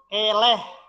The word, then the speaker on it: eleh: Eleh. E-nya tuh epepet nih.